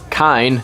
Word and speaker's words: kine: Well, because they've done this, I pronounce this word kine. Everything sounds a little spookier with that silent E added on the end, doesn't it?